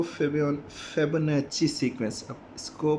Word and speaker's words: Fibonacci: अब जो थर्ड हमारे पास जो सीक्वेंस आ रही है वो फेबोनाची सीक्वेंस। अब इसको प्रोनाउंस करते हैं फेबोनाची।